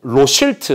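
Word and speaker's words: Rothschild: 무통 로실트, 로스차일드의 이 영국식 발음 로실트거든요. 로실트.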